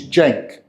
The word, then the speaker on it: Cenk: So my name is Cenk. Okay. Spelled normal C, E-N-K. So that normal C is a J sound.